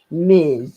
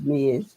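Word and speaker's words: Ms.: Ms perod is either or and that's here Miz it's pronounced Miz okay so oh I'm going to write a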